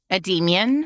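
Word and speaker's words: Endymion: i o n how do you say that ad Demian there you go that's why he's demon you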